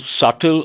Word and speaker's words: subtle: Intangible, imperceptible, subtle, unclear. Subtle, the letter B is silent.